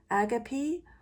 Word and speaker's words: agape: And the card that came out today, well, I think the British word, the British pronunciation of this card is agape and the American is a gape.